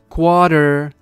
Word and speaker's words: quarter: Rýmuje se to totiž se slovem water, což znamená voda. Takže quarter, water. to je americká angličtina, a pokud vám nejde